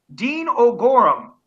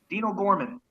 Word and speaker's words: Dean O'Gorman: watching people up there old Gorham actually does have an apostrophe between the oh and the geez it is not an initial it is in fact